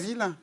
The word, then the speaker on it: Gaville: Ah, comment, non mais comment alors ça se c'est prononce Gaville, Ouais, Gaville, exactement. Pas Attention. Gazville. c'est Exactement. pas le gaz de ville, hein, on est d'accord.